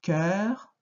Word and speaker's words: cœur: Le cœur, on ouvre. À cause du R derrière, on ouvre. Cœur.